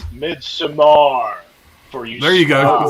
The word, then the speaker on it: Midsommar: And inside Hansel, it's Midsommar for you.